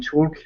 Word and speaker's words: chalk: sideshow attendance will hit players back with chalk, with chalk to advise others those people were susceptible to tricks. Yeah. We say Good. chalk or chalk. It's just chalk. So the L is silent.